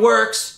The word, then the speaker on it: Worx: worx brand of oscillating multi-tool 20 volt that is spelled wrx all right i'm not gonna hate on works that much i will say this it does